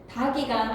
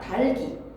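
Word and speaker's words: 닭이: 비시가 아니라 비지 밭칠이 아니라 밭을 다기가 아니라 달기 그냥 의문의 변동에서 잠근 다수나 하지 말고 연음하시면 됩니다. 달기지 다기가 아니에요.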